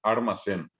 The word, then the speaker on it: almacén: les contaba, por ejemplo, ocurre con las palabras con L, que en guaraní se convierten en R. O sea, pronunciando esa palabra castellana guaraní, la pronunciamos con R. El caso, por ejemplo, de decir almacén, que al que habla castellano no le cuesta nada decir, y decir después armacén, ojo armacén, ¿verdad?